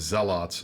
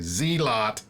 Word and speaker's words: zealot: zealots or as uh i say zealot because that's how you pronounce it uh but then of course everybody in the alliance including our favorite irish fc dark giants say zee lot and i make fun